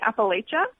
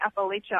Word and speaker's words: Appalachia: periphery of the region, usually say Appalachia, and both are completely fine. I think the tension is people who say Appalachia always like to tell us that we're mispronouncing it.